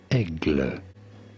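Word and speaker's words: Aigle: eagle the bird so how do you say eagle in french this is said as egg i did see immediately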